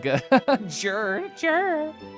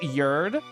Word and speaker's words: Jerd: Jerd. Oh, sorry, it's pronounced Yerd.